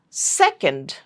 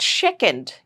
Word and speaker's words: second: Again, a lot of people pronounce this S as sha. This is sha, but this is sa, only sa. So it is sister, not shishter. It's not second, it's second, sa, second.